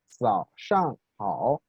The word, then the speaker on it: 早上好: Y aprendimos en los videos que la pronunciación de la Z es como o se asemeja al sonido zumbante de una abeja, ¿sí? Z, z, zao, zao, shang, hao, ¿sí?